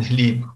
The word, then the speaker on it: Hlib: of Kiev and Rus are Boris and Hlib, or sometimes pronounced Boris and Gleb.